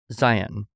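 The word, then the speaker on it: Zeihan: named Peter Zion, but his name is spelled Z E I H A N. Okay. But he says Zion, and he's got a brilliantly short podcast.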